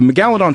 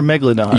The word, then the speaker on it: megalodon: is it megaladon or Megalodon how do you say it it it's it depend your emphasis can be on a different salable it's it's both it's it's not like